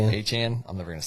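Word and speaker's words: Achane: Our how's he pronounce again? Achan. Aan.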